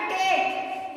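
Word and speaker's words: take: मेक, टेक, head, यानी कि लिखा हुआ है किसी वर्ड के लास्ट में अगर लास्ट में ई रहता है ई साइलेंट वर्ड हो जाता है।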